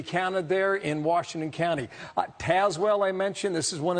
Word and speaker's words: Tazewell: It's not Tazewell, it's Tazewell.